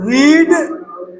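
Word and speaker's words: read: The book was नॉट रीड ये रेड हो जाता है इसका उच्चारण बाय द स्टूडेंट ये रहा आपके छठवें का उत्तर।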